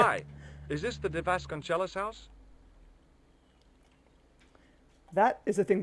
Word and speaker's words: Vasconcelos: Conchelos, pronouncing the CE in a Spanish word as ch. That is not a thing that happens in Spanish. That's Italian. It would be Vasconcelos.